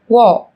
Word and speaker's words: walk: yellow, Một số từ sau đây sẽ có chữ cái L trong cách viết nhưng chúng ta không cần phát âm. Talk, talk, talk. talk, Walk, walk, walk.